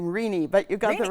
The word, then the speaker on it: Renee: You actually pronounced her first name Rini, but you got the right name right.